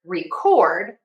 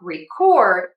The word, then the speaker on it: record: When we have the word record, I am going to stress syllable number two by making it louder, making the vowel longer and making the pitch higher. That would change the word from record to record.